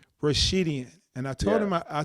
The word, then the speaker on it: Rashidian: I have Amir Rash- pronounce that for me, Rashidian. Rashidian, and I told Yeah.